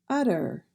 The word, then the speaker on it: utter: Utter, utter. We do not say a sharp T in that word, so we pronounce it utter.